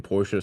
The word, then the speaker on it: Porsche: I always found the pronunciation of the last E in Porsche slightly weird. I've always pronounced it Porsche subconsciously, especially subconsciously.